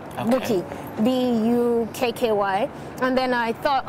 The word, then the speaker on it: Bouqui: He said, no, that if the Q comes before the U and all that, it becomes a K sound, not a Q, sound.